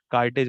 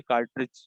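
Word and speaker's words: cartage: कार्टेज मैंने आपको यहाँ पे बता दिया। अच्छा, यहाँ पे अक्सर इसको मिस प्रोनाउंस करके बच्चे कार्ट्रिज जो उसकी होती है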